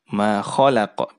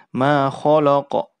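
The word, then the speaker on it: خلق: Makanya susunan huruf ini jangan sampai huruf lam yang tipis karena diapit oleh 2 huruf yang tebal, dia ikut menjadi tebal ya. Jangan sampai kita baca ma khalaqa ya. Tapi kita harus tipiskan huruf lam pada saat diucapkan. Ma khalaqa la jangan lo, khala ya.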